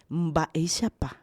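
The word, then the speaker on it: Mba'éichapa: B de burro, MV, é uma sola letra, Mba, e se pronuncia com a garganta. Mbaixapá.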